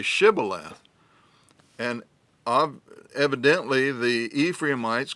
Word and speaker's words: Shibboleth: say to him then say Shibboleth and he would say Sybil F for he could not pronounce it right then they would take